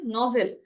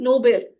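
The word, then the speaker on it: novel: Pronunciation খেয়াল রাখবেন, এটা হচ্ছে নভেল। আমি ফার্স্টে শুনতেছি নোবেল, ঠিক আছে? নো, উচ্চারণটা নট নো, নভেল।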